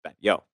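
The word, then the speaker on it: Batlló: that's what it looks like uh but it pronounced Ben yo and this is actually a place that you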